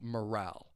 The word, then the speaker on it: morale: a way to M morale keep in mind that final word morale the pronunciation the stress is on that second syllable morale there are again there's